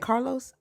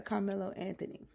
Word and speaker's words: Carmelo Anthony: ain't that his name, Carmelo Anthony? Did I say his name wrong? No, you said Carlos Carmelo. Did I say Mm. Carlos? You said Yeah, Carlo. Yeah. yeah, Carmelo Anthony.